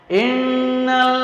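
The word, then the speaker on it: إِنَّ: Inna itu ada tasdidnya, dibacanya harus mendengung, ditahan.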